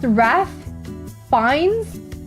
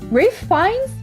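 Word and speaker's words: Ralph Fiennes: I guess there's people like Ralph Beans, pronounced Raph Fines, Rafe Rafe Fines, Raph Fines.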